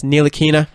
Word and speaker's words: Ntilikina: I know I was struggling with it the other day, but it's Ntilikina.